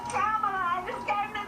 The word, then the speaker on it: Kamala: Hey, I have a rare sighting of the presidential hopeful, ex-Vice President Kamala Harris.